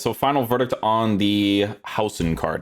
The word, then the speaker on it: Huijsen: So, final verdict on the house card. I'm pretty sure that's how you say his name is House. Every time I watch the Portuguese commentaries, they say it like that, but if I'm wrong, correct me, you know.